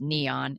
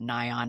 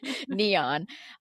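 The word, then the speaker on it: Nyon: main train stop is Neon. N yo N. I always wanted to call it Nion. I'm like remind me how to say it again. Neon.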